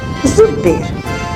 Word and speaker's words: зудабер: Зудбер. Зудабер пишется. Зудберду говорим.